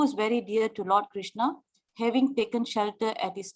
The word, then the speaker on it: Krishna: Hare Krishna, Krishna Krishna, Hare Hare, Hare Rama, Rama Rama, Hare Hare. The words Hare, pronounced Hare, Krishna, pronounced Krishna, and Rama rhymes with Rama, are Sanskrit words.